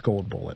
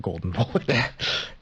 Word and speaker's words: Gold Bullet: I want to point out that I mispronounced his name. It's Gold Bullet, not Golden Bullet.